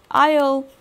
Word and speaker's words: aisle: For instance, if we take words like island, the S is not pronounced there, or aisle, the S is not pronounced there, and there are many such examples.